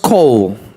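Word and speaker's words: קול: The word voice is QOL in Greek, La palabra en griego es which is QOL, pronounced call.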